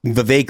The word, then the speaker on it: Vivek: We got to call him the Cake Man because it's Vivek like cake.